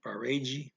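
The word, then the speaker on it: parede: the wall parade um that's p-a-r-e-d-e get that d e ending for g sound barrage on the wall okay means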